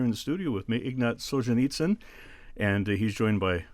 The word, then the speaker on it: Ignat: said a few different ways in Russian it's pronounced Ignat okay and then we kind of uh